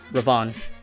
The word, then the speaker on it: Ravon: Is it Riven or Ravon? Ravon.